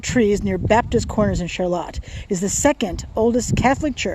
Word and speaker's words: Charlotte: By the way, that's why the name is pronounced Charlotte. There's a Charlotte Street in Burlington pronounced Charlotte. But Charlotte is pronounced that special way and is named for a woman whose name was pronounced Charlotte.